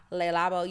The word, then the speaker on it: Le Labo: item of the week this week is by Le labo y'all know I'm a fragrance girl say it